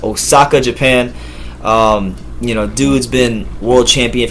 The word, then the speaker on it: Osaka: But Katsunari Takayama out of Osawa, or is that how you say it? Osawa? Where is it? Osaka, my bad. Osaka, Japan.